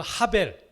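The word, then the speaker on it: הבל: 그래서 이게 이 점세개는 에라는 모음이에요. 에. 그래서 헤벨 그렇게 읽을 수가 있어요. 이게 히브리어예요. 자, 이 단어가 전도서에는 계속되고 있어요. 계속. 이게 뭐냐면 헛되다라는 단어예요. 헤벨이. 그리고 하벨 그렇게 읽을 수가 있어요.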